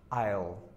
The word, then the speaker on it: I'll: we push them together so I will be comes isle is and here we can see we have two syllables and here it's only one and many of us